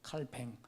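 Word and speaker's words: Calvin: 쯔빙글리라는 사람하고 요한 칼빈, 존 칼빈, 원래 프랑스계니까 발음을 칼뱅이라고 하잖아요. 프랑스 말로는 칼뱅.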